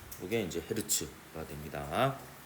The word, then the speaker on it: 헤르츠: 내내는데 종결점을 마침표를 찍었던 헤르츠의 이름을 따서 대문자 H 소문자 Z로 쓰고 헤르츠 어라고 읽고요. 후르츠 아닙니다.